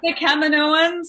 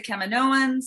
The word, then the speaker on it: Kaminoans: And just a quick one, in your opinion, is it Kaminoans or Kaminoans? Oh my gosh, I don't want to get bad fan mail. I say Kaminoans. That's how Dave Filoni pronounces it. Oh, okay. He changed his mind. I don't know. But I say Kaminoans. It could be tomato, tomato. Mm-hmm. But I pronounce it as Kaminoans.